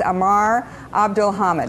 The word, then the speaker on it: عمار عبد الحميد: I may murder your name but so it pronounce it correctly for me it's Amar Abdul hammed is that correct exactly there you go okay